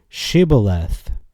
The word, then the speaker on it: shibboleth: as we all know shibboleth and he said siboleth for he could not frame to pronounce it right okay so I'm gonna